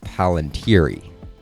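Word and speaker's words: palantíri: just use that but the plural doesn't really make sense with that pronunciation so i'll use paland here and so the plural would be palantiri as you know the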